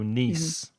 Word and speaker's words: niece: mhm the feminine mhm and niece that's nce not to be confused with nice so you might have a nice nce but the vowel sound in N is a long e like T or me so niece your niece and your nephew is